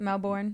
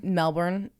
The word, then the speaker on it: Melbourne: Australia and she'd gone on to us for pronouncing Melbourne wrong how do we say it Melbourne Melbourne but I that's just like the way that